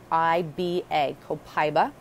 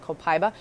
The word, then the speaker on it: Copaiba: I'm going to spell it for you. It's Copaiba. Copaiba. Okay, some people say it a little differently, but Copaiba.